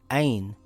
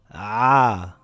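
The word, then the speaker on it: ع: To pronounce ayn, it must come from the back of the mouth in the throat. If you pronounce it as ayn, as in the letter A, you have pronounced it wrong. It is as if you are biting a big apple. Ah!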